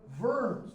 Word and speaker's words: Worms: invites Luther to What's called the deity of vernes w u r m s pronounced the Ws of in German but it's